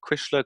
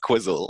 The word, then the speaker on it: Cuisle: kind of say like oh how do you pronounce it is it Krishna Quizzle definitely not Quizzle on your HP yeah but yeah no it's